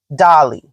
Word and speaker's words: Dalai: So I live in America, so we pronounce it Dolly, right? Dalai Lama.